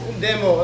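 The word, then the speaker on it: でも: You know, it's just demo, like, you know, demonstration, demo. It's the same pronunciation, you already know, demo.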